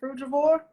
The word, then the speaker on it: frugivore: Frugivore?